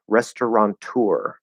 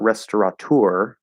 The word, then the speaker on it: restaurateur: i pronounce it and the way that i've only ever heard it pronounced is restauranteur so there's an n in there not restaurateur restaurant tour like restaurant restaurant tour that makes sense um but apparently that's actually not in the spelling and it's not supposed to be in the pronunciation according to the dictionary so that's why it seems strange to me but again just like with